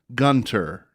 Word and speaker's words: Gunter: again to the listeners it is Dr Jen Gunter this edition of our podcast is brought to